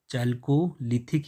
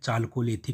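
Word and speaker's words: Chalcolithic: ए एल तो इसलिए कहीं कहीं पर ये चाल ख दिया गया है ठीक है चलकोलिथिक लिखा है चलकोलिथिक होता है ये जो चलकोलिथिक है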